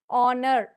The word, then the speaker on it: honor: words starting in h certain words starting in h where H is silent in pronunciation R honest honor honary sound so we